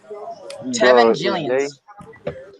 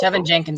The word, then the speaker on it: Tevin Jenkins: Tevin Jillians. Who? Tevin Jenkins, I'm sorry. I mispronounced his name.